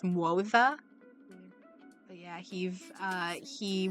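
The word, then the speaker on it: Moze: heard it in story I thought it was like Mo yeah cuz that's kind of how it spelled but it's MOA but yeah he's uh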